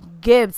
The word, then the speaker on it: Ghybz: right lucky me Instagram it's Gibbs it's how you saw it and then it's at